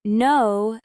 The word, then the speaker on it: know: For example, in no, the K is silent, but your lips still prepare for the N.